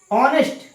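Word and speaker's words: honest: ऑनेस्ट, इसको क्या पढ़ते हैं हम, ऑनेस्ट, इसमें एस साइलेंट रहता है, देखो यहाँ पर एच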